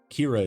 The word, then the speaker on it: Kira: Kira is pronounced the same way as killer in Japanese.